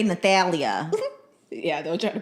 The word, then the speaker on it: Nathalia: They'll say Nathalia. Yeah, they'll try to pronounce the Nathalia. And Nathalia. I'm like, the H is silent.